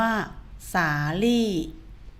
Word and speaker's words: สาลี่: คะ คำ ที่ 1 คำ ว่า สาลี่ ลิ้น ไม่ หัน นะ คะ คุณ ครู ออก เสียง ลิ้น ไม่ หัน แปล ว่า ไม่ ใช่ รอ เรือ นะ คะ สาลี่ วัน